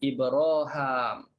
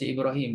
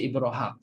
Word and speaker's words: Ibraham: tadi kalimah Ibrahim semuanya Hisyam baca dengan Ibraham bagi jadi sebab itu dia tulis tak ada ya raikan qiraat lain bacanya bukan baca Ibrahim baca Ibraham bila baca Ibraham letak alif saja atas ha letak alif panjang atas ha tu ya